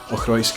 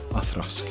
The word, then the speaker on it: Auchroisk: Auchroisk is absolutely fine. There are people who work for Diageo, the owner of this distillery, who say Auchroisk, and they've not been fired. The right pronunciation, the Gaelic pronunciation, would be Auchroisk.